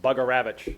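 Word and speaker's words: Bugarewicz: And Brian's referring to Mike, his crew chief, Mike Bugaravich is the best pronunciation of his name.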